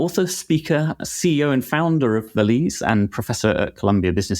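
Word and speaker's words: Valize: And tell us about Valise as well. Am I pronouncing that right?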